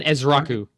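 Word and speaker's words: Ezeiruaku: Uh so I am gonna take Can you just pronounce it for me? Ed Russia isu Donovan Ezrau.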